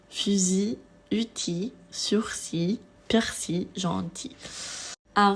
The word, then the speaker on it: fusil: Ceci, on ne prononce pas la L finale, on termine avec une I. Fusil, outil, sursis, persil, gentil.